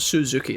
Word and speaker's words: Suzuki: um some pertinent information I don't think it's pronounced Suz it's like Suzuki it's not Suzuki it's Suzuki there like a more B it's